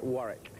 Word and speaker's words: Warwick: easy for them work it's not as Diane Warwick it's Warwick without without you don't pronounce the second W in French is alio